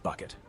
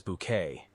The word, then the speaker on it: Bucket: With her insistence on pronouncing Bucket as Bouquet, Hyacinth is more than just a laugh.